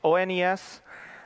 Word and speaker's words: ONES: It's ONES. I know people like pronouncing it different ways, but it is ONES.